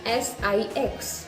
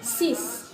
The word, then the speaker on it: six: And in 6 and 10, you have to keep in mind that it is spelled as S-I-X, D-I-X, but it becomes sis, like S-I-S, D-I-S, sis, this, not six, X sound nahi aayega, sis, this, okay?